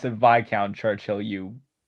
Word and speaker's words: Viscount: The Great Bear, or should I say Viscount Churchill, became a highly respected locomotive after he was rebuilt into a castle, which has actually since been redconed. Yeah. Also, you pronounce it Viccount Churchill, you Vouch.